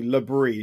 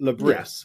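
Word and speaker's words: Le Bris: says Reggie labre I'm I'm calling him Reggie labre because he's French so it's got to be labre not lais as everyone's pronouncing it he plays an attacking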